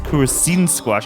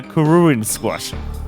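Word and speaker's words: Kururin Squash: Um, so I see we got I kept pronouncing as Kusine squash. I completely missed the red on the schedule. Good. Good job, George. Good job. Uh, Kuruin Squash.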